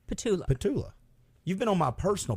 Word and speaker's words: Petulla: how do you say the last name Pula patula you've been on my personal podcast I have